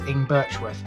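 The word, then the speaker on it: Ingbirchworth: english with by the end of it i'm pronouncing it the correct way which is in birchwood i've had that confirmed by somebody that's the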